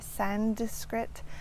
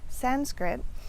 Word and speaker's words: Sanskrit: So let's start with the word Sanskrit itself, which I often hear mispronounced with adding a D in there, Sanskrit, or an M, Sanskrit, things like that. So it's Sanskrit.